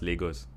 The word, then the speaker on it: Lagos: It's pronounced Lagos.